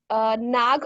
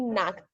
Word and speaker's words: knack: The phrase was nag of unique speeches. Maybe it was the technical issues, but instead of nag, it should be knack, K-N-A-C-K, knack of unique speeches.